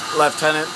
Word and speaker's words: lieutenant: that we fly and left tenant uh because that's the strange way the British pronounced Lieutenant um what does this